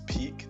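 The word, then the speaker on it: Pieck: elden marley commander and i realized i was saying her name wrong i got informed it's peak not pc i don't know why i'm saying it like that but peak uh when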